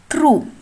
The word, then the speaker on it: through: Then the next one is through. The silent letters are G, H.